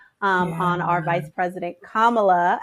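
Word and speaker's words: Kamala: on our vice president kamla as her name is pronounced and we all know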